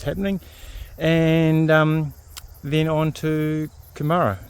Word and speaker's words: Kumara: We're heading to Kumara, not Kumara. Kumara is the sweet potato. I think this is pronounced Kumara because it's named after a plant, flower. something like that, but not a sweet potato anyway.